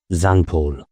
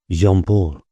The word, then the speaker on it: Jean-Paul: Beanpole's name, I learned, was not Zanpaul, but Jean-Paul.